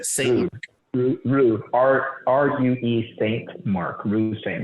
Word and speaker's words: Rue: Rude St. Mark. Rue.